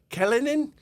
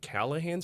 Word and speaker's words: Callahan: cabbage punks yakobit and she gets she goes kalanin kalanin and I raised my hand she how do I pronounce this I go it's pronounced callahan sister and she looks she goes I'm not